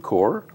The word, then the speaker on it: Corps: And we're going to do that with a member of the Food Corps, that's C-O-R-P-S, for everybody who might mispronounce it, including myself.